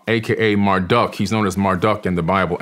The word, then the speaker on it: Marduk: flood Alan raah AKA Marduk he's known as Marduk in the Bible m a r d UK